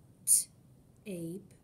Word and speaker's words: tape: So these are words that have a long A and a magic silent E. So the sound is ape. The first word is tape. T-ape, tape.